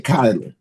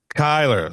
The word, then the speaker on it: Cyler: I'm pronouncing everything right, Yes. right? It's R.J. Kyler. Kyler, see? Yeah. Man. Kyler.